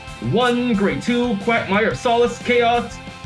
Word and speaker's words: Kheios: let's just rename the deck renaming the deck chaos let's see it's print it's spelled k h e i o s chaos